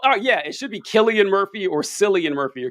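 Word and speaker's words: Cillian: But one thing I can't stand is that Killian is spelled with a C. I really hate that. I I really hate that. That That should be Sillian Murphy.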